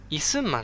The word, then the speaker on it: 李承晩: 名前なんて言うかっていうと憩ます李承晩って言うんですね李承晩ただまぁ